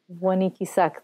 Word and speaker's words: Wanikisak: Wanikisak, that is how you say it?